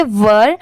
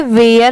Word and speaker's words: were: है Meena MEENA Meena WERE, इसे हम पढ़ेंगे वर, बट बहुत सारे लोग इसे वेयर पढ़ते हैं, वो रॉन्ग होता है। इसकी प्रोनाउंसिएशन है वर।